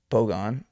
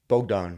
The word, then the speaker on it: Bogdan: Um, but these other guys like Bogdon Bdonovich look like um it's Bogan Bogdan. Bogdon. Yeah. Bogdon. I said it right.